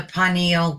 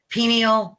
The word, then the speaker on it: pineal: connection of the I I always call it the panal gland is that the right way to say it pineal pineal whatever um that the